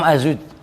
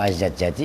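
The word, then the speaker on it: الزجاجي: Imam Az-Zujjaji, ya terserah itu bacanya Az-Zujjaji apa Az-Zajjaji.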